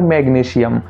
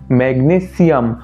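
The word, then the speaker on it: magnesium: একচুয়ালটা হবে potassium, calcium, ম্যাগনেসিয়াম। অর্থাৎ যখন সিটা বলছো সিতে কিন্তু জোর দিতে হবে যেটা আমরা প্রায়ই দিয়ে থাকি না।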